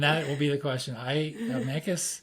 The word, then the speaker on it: Mancos: Mancos, it's pronounced Mancos, not that you would know that, but Mancos is 25 miles west of Durango.